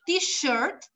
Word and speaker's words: t-shirt: Aquí es con un sh de silencio, t-shirt, y el otro es teacher, es más seco, ¿ok?